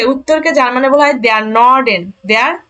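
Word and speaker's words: Norden: north অর্থাৎ উত্তরকে উত্তরকে যার মানে বলা হয় নর্ডেন নর্ডেন দক্ষিণকে বলা হয় দেখেন এন একসাথে উচ্চারণ জুডেন পশ্চিমকে বলা হয় ভেস্টেন ভেস্টেন ভেস্টেন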